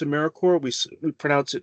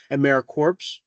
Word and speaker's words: AmeriCorps: Another important thing to keep in mind is that when we pronounce AmeriCorps, we don't pronounce it AmeriCorps. So that's something to watch out for.